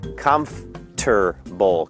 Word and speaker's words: comfortable: awkward สรุป นะ ครับ ถ้า จะ พูด คำ ว่า Comfortable เหมือน เจ้า ภาษา นะ ครับ ก็ คือ พูด 3 พยางค์ ครับ Comfortable Comfortable Comfortable หรือ 4